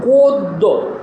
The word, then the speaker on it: গদ্য: শেষে জফালা থাকে তাহলে ওই জফলাটা উচ্চারণ হবে না বরং যে বর্ণের সাথে